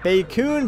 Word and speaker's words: Bacoon: Well, I'm pretty sure it's actually pronounced bacoon, but we're gonna go with bacon just because that sounds a lot cooler.